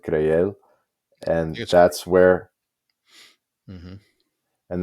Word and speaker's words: Creel: some sort of transport to creel or probably they pronounce it crel and that's where MH